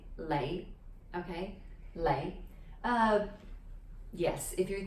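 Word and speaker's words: 李: popular surname is lee which in cantonese is pronounced as lay the low-rising lay okay uh yes if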